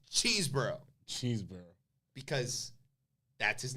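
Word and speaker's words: Chesebro: It's Cheeseborough. Not Chesborough. Not Chesborough. Not Cesborough. Not. It's Cheeseborough.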